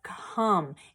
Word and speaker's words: come: but for this one it's come it's not making the o say its name so it's a tricky